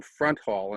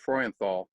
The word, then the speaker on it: Freudenthal: really know his position he mispronounced the name you see he calls him front hall instead of freuenthal but listen look at